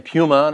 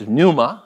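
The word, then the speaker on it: πνεῦμα: week I kept saying Puma it's Numa you know it's not there's no there's no you don't pronounce the P but I you know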